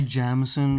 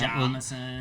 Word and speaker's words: Jameson: It's actually Jamison because the first couple times, Jamison. first few months I lived here, I pronounced it wrong and people correct me.